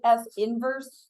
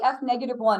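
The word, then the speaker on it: f⁻¹: you could please write F inverse don't say F negative one it's F inverse is how you say that although I'm not going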